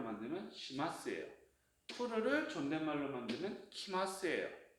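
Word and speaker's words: 来ます: 푸르를 존댓말로 만들면 키마스예요. 자, 일단은 자, 그럼 스루에 마스를 붙이면 시마스니까 마스케는 뭐죠? 시예요. 이게 바로 나와야 돼요. 끊어주면 되겠죠? 이렇게 끊기. 그 다음에 쿠르 오다에 마스를 붙이면 키마스.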